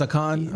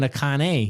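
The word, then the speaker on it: Achane: told me how to say it. It's Akon? Yeah, it was, first everybody was saying Akane. He said no. The wrath It's of Akon.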